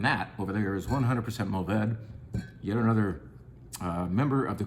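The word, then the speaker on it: Mourvèdre: least my old friend, Mourvedre. Mourvedre, you can pronounce that last syllable. You can say Mourvedre. The French would gasp or breathe that final syllable. They would say something like Mourvedre.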